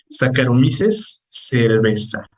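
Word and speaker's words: Saccharomyces cerevisiae: escribe como a ver vamos a este sí sacares cerveza así se pronuncia sí aunque di ahí servicie es es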